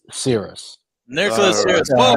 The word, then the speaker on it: Syris: So it's Nicholas Syris.